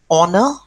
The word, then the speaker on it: honor: we use an and an is also used before a noun that starts with a silent h like our okay then uh air to the throne and um water starts with h honor it's an honor to meet you okay all these are silent h and you use and